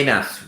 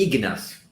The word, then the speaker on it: Ignas: os novos em português Meu nome não é Inácio meu nome é ignas Ignácio não é tão